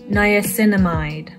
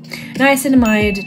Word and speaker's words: niacinamide: Now here's where the pronunciation gets a bit tricky. Niacinamide. Yeah. Niacinamide 10% plus zinc 1%.